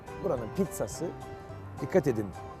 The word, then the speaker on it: Pizza: Ve tabii ki pizzası Pizza buranın pizzası dikkat edin Pizza demiyorum Pizza diyorum İtalyanca ik tane Z bir tanesi T olur Pizza yazılır ama Pizza okunur aynı şey geçerli Mozzarella